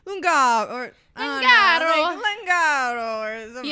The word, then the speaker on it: Lungaro: Yeah, Lungaro. Yeah. Maybe it yeah. really is the Italian pronunciation. Lungaro. Garo. Like they Yeah. say their A is like air.